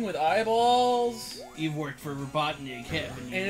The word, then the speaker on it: Robotnik: You pronounce it with a K at the end, Anthony, not a G.